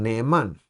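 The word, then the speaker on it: נאמן: nombre de nifal y la pronunciación sería un neeman y un neeman No es otra otra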